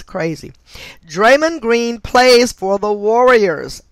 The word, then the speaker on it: Draymond: for reduction draymond and his name is spelled d-r-a-y-m-o-n-d like drama but it's draymond draymond green equates to